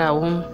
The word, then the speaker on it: Om: E Bueno, ahora vamos a continuar con el mantra Om, pronunciándolo aún.